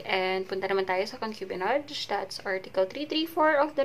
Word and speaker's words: concubinage: And punta naman tayo sa concubinage.